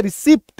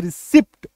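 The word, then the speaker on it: receipt: से मैंने यहां पर रिसीप्ट हम लोग बोलते आए हैं रिसीप्ट तो एक्चुअल उच्चारण क्या होगा रिसी यहां पे प नहीं रहेगा रिसी ठीक है कंसीव डिसीड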